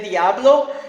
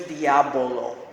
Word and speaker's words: Diabolo: Yeah, you have to be careful how you say it because if you say Diablo, you're going to be saying devil in devil, Spanish. yeah. So it's Diabolo.